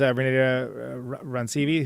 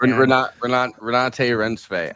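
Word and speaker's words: Renate Reinsve: And instead of Julia Garner, it was Renata Rancivi, who's from Worst Person in the World. Renate Rensve.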